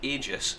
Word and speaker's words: Aegis: by the way, it's called Aegis. That is actually how it's pronounced.